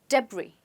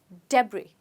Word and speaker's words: debris: let's find out so which letter is silent quite easy it's s we don't say the s we say debris let's try it again debris okay so debris are